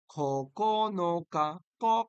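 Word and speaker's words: ここのか: ইয়া মানে আট তারিখ কনকা খন ক খ এর মত উচ্চারণ হয় হ্যাঁ খনোকা মানে নয়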